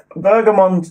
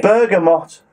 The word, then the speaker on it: bergamot: die die burgum bergamot bergamont bergamot but this is tea third month and we don't name pronounced bergamot but it's spelt ber g a MOT bergamot flavored tea I mean